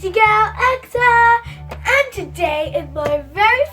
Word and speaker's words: Aqsa: It's not Aqsa, even though it says A-Q-S-A. It's Aqsa, pronunciation. You don't say pone, you say phone. So it's Aqsa.